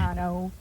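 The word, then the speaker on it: Raitano: Rayano. Rayano. That's how you say it. Is it Rayano or Ratano? It doesn't matter. Rayano has tell us. It could be like here. I say Rano. My grandmother says Rayano.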